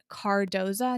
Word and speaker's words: Cardoza: phenomenal work i think her last name is pronounced guard cardoza nicole cardoza i will link